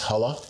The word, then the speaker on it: Hull: So uh yeah, that's uh that's why my name's Hull is because that's the the lineage and Hull being a Norwegian name. It's pronounced hala in Norway.